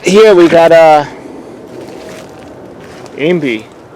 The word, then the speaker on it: imbe: All right, here we got imbi. How do you pronounce it? Imbi? IMBE. I-M-B-E.